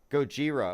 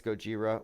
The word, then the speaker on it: Gojira: recruits journalists to write the news in advance goira okay Gojira it's Gojira well however it's pronounced it it's the isn't it the Japanese